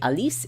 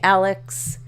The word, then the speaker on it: Alice: If you want to pronounce it French, it would be Alice. If you want to pronounce it English American, it would be Alex.